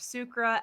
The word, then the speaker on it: Sucre: Also, we forgot to touch on the name, how I pronounce it with the French. You pronounce it as Sucre.